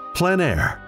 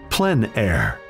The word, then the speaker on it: plein air: of outdoor painting called plein air the French coined the term which means open air or outdoors the French pronounced it plan air others say plein air no matter how you